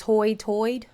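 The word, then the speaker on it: high tide: kind vowel pronunciation and high is Hoy toid hoid Hoy toid what the heck is this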